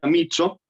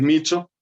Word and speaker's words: Miccio: Bueno, en principio una cosa, mi apellido se pronuncia Micho, pero yo tengo el hábito de pronunciarlo mal porque mi familia siempre se lo pronuncia así, Ah, bien. así que el italiano duro, el italiano estricto es Micho, pero bueno, gracias por